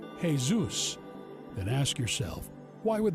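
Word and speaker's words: Jesús: tied to Zeus worship ask any Spanish or latin-speaking person to pronounce the word Jesus and they will say Jes Zeus then ask yourself why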